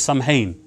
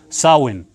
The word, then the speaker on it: Samhain: called this and now many people pronounce this samhain but it's actually called sarwin now the day of